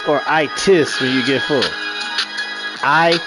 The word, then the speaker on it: itis: Hey Maze, is it uh itis or itis when you get full it tis? The itis. You know, some people might pronounce it with a D, but it's the itis with a T.